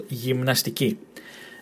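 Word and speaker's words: γυμναστική: Gymnastiki. Gymnastiki. This and this part might might sort of cause you difficulties. Mn, mn, m, n, mn. And this one here, gymnastiki. Again, emphasis on the last syllable, gymnastiki.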